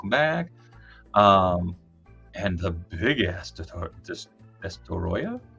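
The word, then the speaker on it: Destoroyah: And the big ass Destoroya. I always said Destroya. I've been mispronouncing it.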